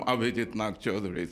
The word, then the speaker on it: Abhijit Nagchaudhuri: But if you want to take it up as a phonetic challenge, I'm Abhijit Nagchaudhuri.